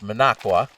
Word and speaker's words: Minocqua: often often here various announcers butcher the name of the city it's Managua and that is located